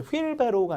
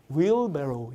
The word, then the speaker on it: wheelbarrow: 이제 W 다음에 H 발음 안 하니까 거의 이제 미국식이든 영국식 발음이 거의 휠이 됩니다. 우리가 하얀색은 화이트라고 알고 있었지만 실제 이제 네이티브는 이제는 white이라고 발음을 하니까요. 이것도 이제 wheelbarrow가 아니라 wheelbarrow 이렇게 정확한 발음으로 익혀두셔야 훨씬 더 듣기가 잘 될 거예요.